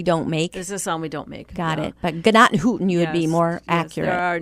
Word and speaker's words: Gnadenhutten: Say that the right way. Gnadenhutten. Thanks. Not Gnadenhutten. Well, the locals say Gnadenhutten, and both are correct, but Gnadenhutten. Gnadenhutten is what they say. I can't actually say it the correct way because it's more guttural as Gnadenhutten.